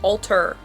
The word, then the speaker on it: Alter: that's so embarrassing um his name is alter with an r at the end not an n i